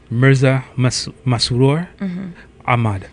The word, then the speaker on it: Mirza Masroor Ahmad: Sir, Mirza Masroor Ahmad.